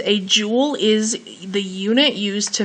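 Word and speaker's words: joule: Now, I'm going to slide down to jewel. That's how this is pronounced.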